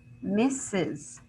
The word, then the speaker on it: misses: And if I say misses, how many syllables do I have? Misses, I have two syllables, right?